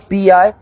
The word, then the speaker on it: B.I: it how to pronounce bi yeah well b is like b and i is like this this is my eyes yeah b i know